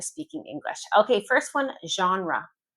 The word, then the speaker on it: genre: And it's important to pronounce them the English way if you're speaking English. Okay. First one. Genre. Genre. Genre.